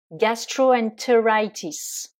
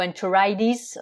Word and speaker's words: gastroenteritis: c'est bronchitis la gastroentérite gastroenteritis ou enteridis si on le prononce avec l'accent américain puisque vous le savez les Américains ont tendance à prononcer les t comme des d la rhinopharingite c'est nasopharengitis